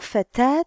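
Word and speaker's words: فتاة: Mais dans le mot fatat, je prononce la t. Je la prononce parce qu'elle est précédée d'une alif.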